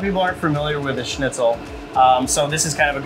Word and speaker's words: Schnitzel: I was like, I don't know how to pronounce that. Yeah. Schnitzel.